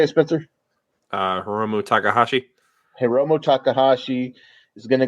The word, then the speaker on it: Hiromu Takahashi: Hiromu Takahashi.